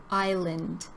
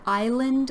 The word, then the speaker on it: island: This is Prince Edward Island. And when you pronounce the word island, we don't say the S in this word.